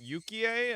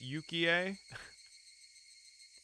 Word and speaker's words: Yukie: Is it Yukie and not Yuki? ああいやそんなことないよ My denial came out almost like a bad piece composed for a poetry slam. Okay, it's Yukie.